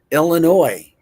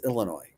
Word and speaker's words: Illinois: Ill. It's like ill. Ill like you're ill. Illinois. Illinois. It's not Illinois. It's not Illinois. It's not ill Illinois. It's Illinois.